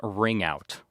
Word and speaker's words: Wring Out: So before we get to Chris, we are welcoming a really great band out of Virginia, and they're called Ring Out, and it's spelt W-R-I-N-G, Ring Out.